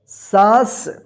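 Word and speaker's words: साँस: और चंद्रबिंदु का कहीं कहीं पे जो है ना आधा न के रूप में भी उच्चारण होता है, जिसे आप देखिए सा के ऊपर चंद्रबिंदु, सांस, ठीक।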